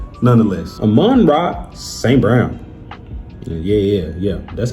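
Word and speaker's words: Amon-Ra St. Brown: Nonetheless, Aman Rock St. Brown.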